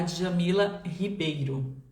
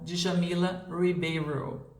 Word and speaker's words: Djamila Ribeiro: estava falando em inglês, eu terminei pronunciando o nome dela como Djamila Ribeiro. Foi bem engraçado porque Foi natural, foi espontâneo, é como se eu tivesse ativado o modo inglês. Então, eu usei o fonema daquela forma, o R dessa maneira.